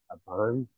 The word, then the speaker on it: Aban: am I pronouncing that right? Aban? Yeah. Yep, exactly right.